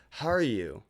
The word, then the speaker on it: Harju: say your last name Haru was I was wondering when you were going to ask that that's actually a common mispronunciation it's it's how you like how are you how are you which is why my